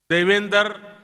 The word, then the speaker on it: Devendra: I said that their name, Devendra, rhymes with my own name, Narendra.